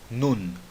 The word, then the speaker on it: Nun: Nun. Pronuncie aquele N. Termine a pronúncia da letra nun com a sua língua em cima na boca, fazendo aquele som do N.